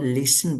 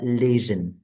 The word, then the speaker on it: listen: Kemudian kosakata yang sederhana kayak listen, it's not listen but listen. Jadi bunyinya agak lebih ke Z dikit kali ya.